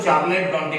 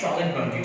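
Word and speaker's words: Charlotte Brontë: अब बहुत लोग इसको चार्लेट ब्रॉन्टी बोलते हैं, कुछ बच्चे जरा नखरा करके बोलते हैं चार्लोटे ब्रॉन्टी, तो एक्चुअली इसका प्रोनाउंसिएशन है शॉर्लेट ब्रॉन्टी।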